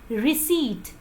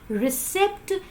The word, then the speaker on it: receipt: of this word is receipt it is not received the correct pronunciation is recede the action of receiving something or the fact that it's being received the correct pronunciation is receipt not received oh do you pronounce